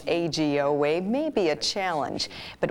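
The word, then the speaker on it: Eiji Oue: do you pronounce AG like a capital a capital G Oh way teaching Minnesotans how to pronounce AG o way may be a challenge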